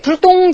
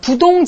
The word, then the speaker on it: 부동: 디귿과 지읒으로 시작되는 말 앞에서만 부라고 읽히는 한자입니다.